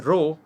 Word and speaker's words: rho: L upon a this P shaped symbol is pronounced as a row and it is called the resistivity of the